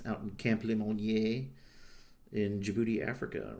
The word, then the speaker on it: Djibouti: from called and uh it starts with a D, but the uh the D silent. It's fun to say also Djibouti. People say it like that, too. kind of you get booty, you know, all kinds of sayings and stuff.